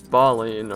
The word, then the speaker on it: Balin: defending the tomb of baline or I just gly say it like baline but it's like Balin that's the American pronunciation I don't know anyway